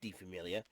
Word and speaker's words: Die Familie: Is Famile, Die Familie, but it's pronounced Die Familie.